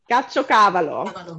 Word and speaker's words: caciocavallo: So I guess Donata does, because she says the second way you pronounced it was right. Caciocavallo.